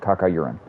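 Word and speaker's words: Cacaurien: uran's it was like c-a-c-a-u-r-i-e-n kaka urine and that's how you pronounced it too i think i never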